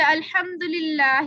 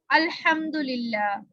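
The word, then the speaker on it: الحمد لله: कोई हर्फ बढ़ा दिया जाए, बढ़ा देना, जैसे अल्हम्दुलिल्लाह की जगह अल्हम्दुलिल्लाह, ये सही लफ्ज है, ये इसकी सही प्रोनाउंसिएशन है। अल्हम्दुलिल्लाह, अल्हम्दुलिल्लाह की जगह हमने क्या पढ़ दिया? कोई लफ्ज बढ़ा दिया, जैसे यहाँ पे हमने लाम बढ़ा के या हा बढ़ा के पढ़ा, जैसे कि अल्हम्दुलिल्लाही, इस तरह पढ़ दिया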